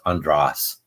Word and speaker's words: Andras: to americanize my name but it's an English that is pronounced andras um most people do